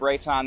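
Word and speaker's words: Reitan: Uh my name is Rayton. This is Haven Herren. My name is spelled.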